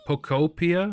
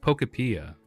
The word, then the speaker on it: Pokopia: Pokopia? Explore the world That's and how you watch the pronounce flora it?